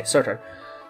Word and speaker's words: Surtr: How do I pronounce her name? Surtr. Okay, Surtr.